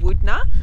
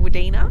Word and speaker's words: Wudinna: staying at the moment is a place called Wudinna. I brought out this little book to show you how it's actually spelled. Because before we got here, we were saying Wudinna. Wudinna. Wudinna, but it's Wudinna.